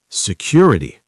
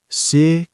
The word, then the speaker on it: security: Security. Security. Four syllables. Stress on the second.